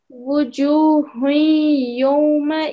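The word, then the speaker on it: وجوه يومئذ: Wujuhun yawma idhin ghashiyah. Yeah. So make sure that you pronounce this properly. Say wujuhun yaw, like this, not yo.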